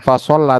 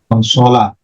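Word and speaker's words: فَصَلَ: Bukan fasolla tapi fasola.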